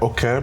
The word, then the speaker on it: Oke: technically it's Oke because that's how the Yoruba way of saying it.